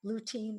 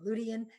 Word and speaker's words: lutein: We're going to move on and now talk about lutein or lutein. You can pronounce it either way.